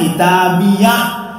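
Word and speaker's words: كِتَابِيَهْ: ta Har ada H ini namanya H wakaf maka bacanya kitabiah sultani sultaniah kemudian ada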